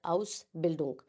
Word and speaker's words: Ausbildung: Ausbildung is basically, first of all, it is pronounced as Ausbildung.